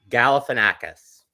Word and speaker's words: Galifianakis: But Zach Galifianakis, whose name they never pronounce correctly, plays Martin Short. Galifianakis.